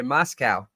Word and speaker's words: Moscow: Ray's going to get me, and I said it wrong trying to correct myself. That's super funny. And I was like, oh, yeah, like cow. But then I was like, oh, wait, the whole point was to not say it like cow. Moscow.